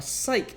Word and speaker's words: cyc: psych and a scrim a psych is short for Cyclorama so it's spelled cyc as soon as spelled all sorts of different ways but this is the right way it is the sheet